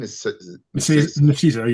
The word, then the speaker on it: Nicieza: Nicieza, yeah, They, I believe, are the creators of Deadpool.